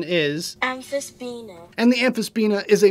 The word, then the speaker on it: Amphisbaena: The actual pronunciation is Amphisbaena.